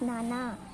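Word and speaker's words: నాన్న: We have to use nana, nan plus na.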